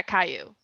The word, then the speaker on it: Caillou: pronounce that fucker's name? Yeah, Caillou.